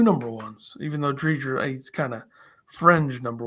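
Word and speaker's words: Driedger: Drieger is how it's pronounced.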